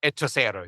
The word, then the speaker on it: Hechicero: Yeah, it's spelled Hechicero. So it's Hechicero. It's not Hechicero.